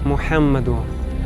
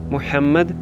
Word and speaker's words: Мухаммед: і Мухаммед його пророк Зверніть увагу що ім'я пророка Мухаммед необхідно вимовляти правильно інакше свідчення не будуть дійсними літеру Г В цьому імені необхідно промовляти м'яко з придихом А якщо людина не